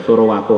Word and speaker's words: Sorowako: Benar bacanya itu Sorowako Halaqah Pusat.